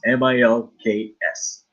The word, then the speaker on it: Milks: all around the world my last name is milks and just how it sounds mi l KS milks like really that's original